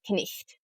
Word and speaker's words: night: And you pronounce all of the letters in consonant clusters like K, N, and W, R, as well as silent GHs. So the word night was knicht.